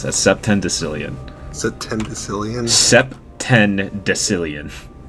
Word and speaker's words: septendecillion: Septendecillion. Septendecillion? Septendecillion. So it's like September decillion.